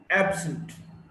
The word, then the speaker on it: absent: Now, if it's an adjective, absent, absent, stress is on the first syllable, ab.